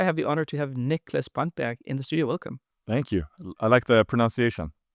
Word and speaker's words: Niklas Brantberg: I like the pronunciation. Yeah, was it totally correct, or yeah? Yeah, that was pretty good. It's pretty good. It's I'm Danish, live in Norway. It's a Swedish name.